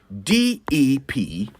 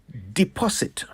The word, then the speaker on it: deposit: How do you pronounce DEPOSIT? It's deposit. Some people say deposit, and I really don't know why. It's deposit, not deposit.